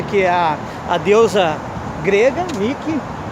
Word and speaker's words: Nike: a a deusa grega nike o xixi que não se pronuncia níquel nike mas eu acho que